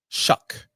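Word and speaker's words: Shough: Shuck. Looks like show.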